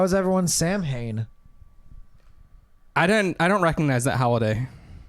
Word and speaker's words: Samhain: Sam Hain is a yes.